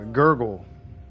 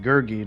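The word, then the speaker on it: Gurgi: Oh, Gergy. Gurgy. Not gurgle.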